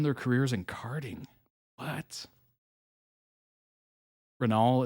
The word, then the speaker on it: Renault: Renault, it's silent.